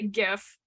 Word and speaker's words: GIF: says I'm gonna say GIF GIF are split into two camps concerning how their name is pronounced how to say it with a hard G half with a soft G disagreements over the correct